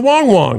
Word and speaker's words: Wang Wang: And in this case, we're including puppies like Wang Wang. John for 10. It's pronounced closer to Wong Wong and is basically translated as bark bark.